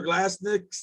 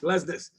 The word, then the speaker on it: Glesnes: The defender Glasnick. How do you say his name? Glesnes.